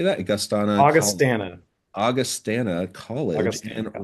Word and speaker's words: Augustana: Augustana.